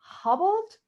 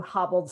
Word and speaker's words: Haubold: No, it's more of a ha. So It's Haubold. more of a ha. Okay. Yeah, So it's not like it's not like you hobbled someone's knees. yeah, like the U is silent.